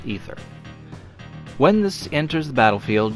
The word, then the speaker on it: Aether: Aether Channeler. I know most people say Aether, but I think it's pronounced Ether.